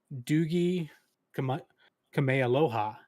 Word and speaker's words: Doogie Kamealoha: show that is, let me make sure I get this pronunciation right. It is Doogie Kamealoha MD.